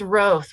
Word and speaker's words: Roth: today yeah thank you it's roth with a long o thank you very much